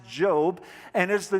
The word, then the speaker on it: Job: wisdom so the first one it looks like job but it's pronounced job and is the name of the central character